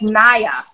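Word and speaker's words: Nya: i noticed we have been pronouncing the professor's name wrong oh what is it it it's naya oh is it naya okaya the great karen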